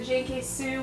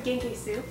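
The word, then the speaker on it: Genki Su: I also have my beloved JK Sue. We have the cranberry flavor here and the nashi Japanese pear. It's actually genkesu, to pronounce it right.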